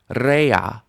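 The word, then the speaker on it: רֵעַ: Rea. Stress under the resh with the tzerei.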